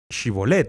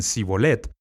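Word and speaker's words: Shibboleth: Como no podían decir Shibolet y en lugar de eso decían Sibolet, como no podían pronunciar correctamente, los mataron.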